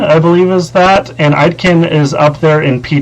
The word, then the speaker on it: Aitken: They said Aitken and Karlsson, and now I know how to pronounce his name. It's Aitken.